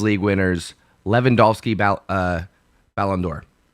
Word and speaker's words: Ballon d'Or: think lewandowski gets a balloon dior allen door excuse me put the wrong and fastest on the wrong syllable i will say that lewandowski gets a ballon d'or while he's at barcelona